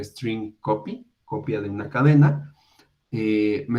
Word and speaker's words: strcpy: Entonces, esta función, que se llama strcpy, o si lo pronunciamos correctamente, esto sería string copy, copia de una cadena, me está devolviendo char, pero aquí tenemos el operador de asterisco.